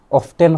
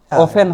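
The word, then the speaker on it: often: হয়তো অনেকে শুনছি যে অফটেন হওয়া ভুল, অফেন হইতে হইব, কিন্তু অফটেন হওয়া নট নেসেসারিলি ভুল। এটা হয়তো কোনো ইংলিশ স্পিকার কোনো একটা অংশে অফটেন হয়, কেউ আবার অফেন হয়, এবং দুইটাই আসলে সঠিক হইতে পারে।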